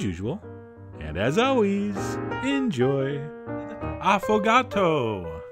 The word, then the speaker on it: affogato: and as always enjoy afato that's right I believe that's how it's pronounced although if it was up to me I would pronounce it afo which I think sounds a little sportier but anyway what it